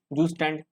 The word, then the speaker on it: Zustand: फिर अलग ही बोलने लगते द मतलब तो जूस स्टैंड मतलब वही तो प्रोनाउंस करेगा ना इसको हान तो प्लांट्स हमारे